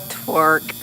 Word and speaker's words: twerk: I love to just torque all the time. Twerk. Never say Torque. I never say it right. I always say torque like a torque wrench.